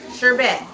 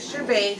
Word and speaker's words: sherbet: Some pronounce it sherbet, some pronounce it sherbet. Okay, I used to say sherbet, but I looked it up and it says the right pronunciation for this spelling is sherbet.